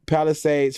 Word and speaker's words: Palisades: right am I saying it right palad yeah Palisades fire which has killed at least eight people